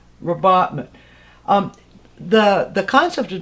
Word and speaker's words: rabatment: we'll stick to the most current spelling and pronunciation robotman um the the concept has been used for